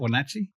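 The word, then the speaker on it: Wenatchee: Wachi.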